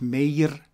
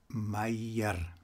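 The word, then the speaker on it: Meier: albert my here and not mayor mayor or meyer but my ear my ear the combination here of the e and I hear usually pronounced in German as I my year now the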